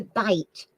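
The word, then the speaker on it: bight: right Kev what is what is a bite and I'll spell it b-i-g-h-t what is a bite b-i-g-h-t all right first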